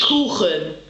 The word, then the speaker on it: Kuchen: And cake is pronounced Kuchen.